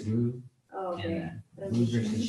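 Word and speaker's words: Rhue: Rue. It's Rue Oh, okay. and Rue versus Cheyenne. Rue. But then that's what I heard, and I was like, is it The H is silent.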